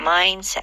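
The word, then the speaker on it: mindset: 이거 좋아요 마인셋음 맞아요 근데 한국에서 마인드셋 이렇게 발음 하시는데 강세를 좀 앞쪽에 많이 실어 줘야겠죠네 셋보다는 마인드에 해 주시면 좋아요 마인셋 마인셋 자 생물학적으로는 단어가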